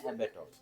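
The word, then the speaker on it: abattoir: ये स्पेलिंग है, इसको बोलते हैं एबेटोर।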